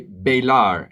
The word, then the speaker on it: bailar: Bailar, many people say bailar, is bailar, bye, like saying goodbye, bye-bye.